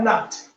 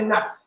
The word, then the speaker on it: Nabit: They call it Nabt, but it is spelled as Nabit, Nabit. That's how they say Nabit. But if you are to pronounce it, they also have that kind of short vowel, Nabit.